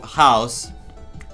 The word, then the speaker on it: Chaos: Chaos, house. House is the pronunciation in Greek.